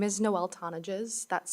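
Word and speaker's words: Tonnigs: have Noel good afternoon my name is Noel tones that's spelled n o e l t o n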